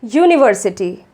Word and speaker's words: university: a consonant sound, like university. This word begins with a vowel letter, but its pronunciation begins with a U or a Y sound, which is the sound of a consonant.